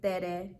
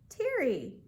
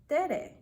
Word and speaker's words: Tere: turn out the way you hope first grade Tere tells her story my teacher was so pretty